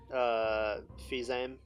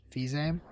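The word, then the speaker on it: Fils-Aimé: Well, if you trust what Reggie Fils-Aime, or how would you pronounce his name, Matt? Fizame. Fils-Aime.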